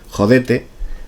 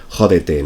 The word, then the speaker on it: jódete: Por ejemplo, en vez de decir uno de los personajes dice jodete, así como palabra llana, mientras que en España lo pronunciaremos como si fuera una palabra etrusca, es decir, jódete, ¿no?